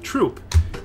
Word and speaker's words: Throop: part of my heritage, they don't even have a th sound in their whole language. That's not something they have. That's why the town next to where I live is called Troop, even though it's spelled Throop.